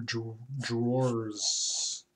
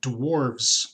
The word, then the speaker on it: drawers: Yeah, I think I'll give it more drawers. Sometimes I have difficulty pronouncing certain words, like drawers. When I was a kid, I used to pronounce it dwarves, because that's how I heard it.